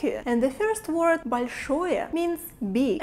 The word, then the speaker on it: большое: And the first word большое means big. And notice that L we pronounce very soft here.